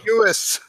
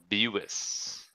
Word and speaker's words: Buis: Like the car. Here, Buick. I made you a graphic. Buis. Buis. It is Buis.